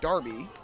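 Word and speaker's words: D'Arby: not pronounced drb it's Darby like there is no apostrophe and the first pitch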